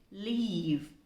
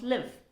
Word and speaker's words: leave: leave this word here has to be pronounced with a long syllable l e a we e leave it's not live it is leave it